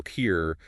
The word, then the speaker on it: tear: So if you're feeling sad, a single tear might roll down your cheek. Right, pronounced with that long E sound, like fear. But if you rip something, you tear it. Exactly. And that tear sounds more like bear, with a short E sound.